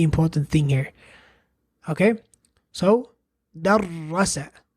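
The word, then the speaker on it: دَرَّسَ: Okay, so darrasa, darrasa. That's all there is to shadda, which is that shadda, which looks like this, basically means is a sign that indicates the presence of a double consonant.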